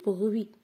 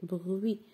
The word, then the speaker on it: bruit: jamais d'accord alors le bruit on entend le bruit on n'entend pas la lettre T le bon on n'entend